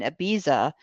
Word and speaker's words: Ibiza: And what happened is Johnny ended up spending several months in Ibiza and elsewhere vacationing on a boat with Saudi princes. You have a good Catalan pronunciation.